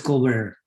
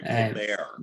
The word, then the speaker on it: Colbert: Oh, sorry, Colbert. Yeah. I'll educate you, Doc. Don't worry about the name. Yeah. The proper pronunciation. You park your car in the carport or the garage.